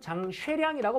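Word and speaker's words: 張學良: 얘는 발음은 장쉐량이라고 발음합니다.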